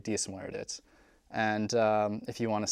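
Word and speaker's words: Dia is Muire dhuit: To say hello to someone, as you said before, you say diadit, and in response to that, you say diasmuerdit.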